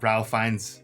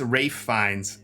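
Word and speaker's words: Ralph Fiennes: name I'm so sorry I've been saying Ralph just to make it easier it's Rafe fines yeah no we were so wrong so apologies for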